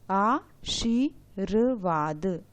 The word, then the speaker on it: आशीर्वाद: हम यह बात कर चुके हैं कि जहाँ दिखाई देता है रेप, उससे पहले ही उसका उच्चारण हो जाता है, तो वा से पहले ही रा का उच्चारण हो जाएगा आशीर्वाद, इस तरह से।